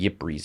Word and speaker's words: Ypres: I think it's called Ypres, is how you pronounce it in Belgium.